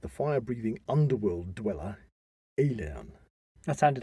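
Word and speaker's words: Aillen: fire breathing underworld dweller alien that sounded like alien it sounded like alien but it spelled a-i-l-l-e-n one alien way of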